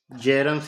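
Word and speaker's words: Bjerrum: तरीके से para central जेरम्स area कहते है तो बी साइलेंट रहता है प्रोनाउंस जेरम्स एरिया ये पैरासेंट जर एरिया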